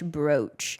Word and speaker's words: brooch: But the British say brooch. Brooch. Rhymes with cooch.